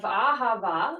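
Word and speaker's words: אהבה: Deuteronomy 6 4-5 is ahava um so it's like or ahav one either way ahava or ahav um and it's you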